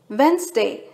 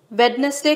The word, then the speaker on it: Wednesday: ஆனா அதோட correct pronunciation வென்ஸ்டே. வெட்னஸ்டே கிடையாது வென்ஸ்டே.